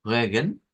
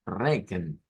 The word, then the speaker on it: Regen: O la de la lluvia, que hemos visto que tiene la pronunciación como Regen, con la R, o puede ser la pronunciación con una R fuerte, como Regen.